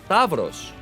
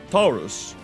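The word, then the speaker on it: ταῦρος: of the human body but Tavros or Taurus for those of you that will probably get this from the Latin perspective means you know bull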